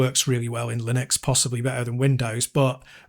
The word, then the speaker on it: Linux: Or as I used to call it Lyden X. I always used to say it like that cuz that's how I pronounced Yeah. Yeah. But apparently it's Linux.